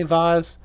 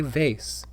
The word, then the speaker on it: vase: was a glass face people that say vaz where did you learn that from when did when did that word become pronounced like that and why do you think you are better than me you're not better than me just say vase or at least don't say vas just say nothing because